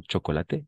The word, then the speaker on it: chocolat: CH, CH no va a ser ch, no va a ser ch, ch, ch, como chocolate, sino va a ser sh, chocolat.